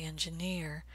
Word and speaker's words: engineer: You might be saying engineer, but Americans will say engineer. They're going to stress the vowel in the last syllable, engineer. Any word that ends with double ER, volunteer, engineer, will have that same pattern.